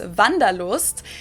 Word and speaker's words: wanderlust: This is kind of an old-fashioned German word that we pronounce vandaloost, and it's literally the desire to wander.